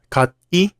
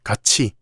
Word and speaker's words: 같이: How do you pronounce this word? 같이? No, it's 같이. That's because when 디귿 or 티읕 meets the vowel 이, they change to 지읒 or 치읒 sounds.